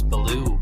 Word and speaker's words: Billou: If I pronounce his last name, it's Billou. I think it's French. I think the U is silent.